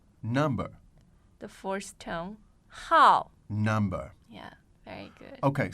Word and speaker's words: 号: the fourth tone 号 Number.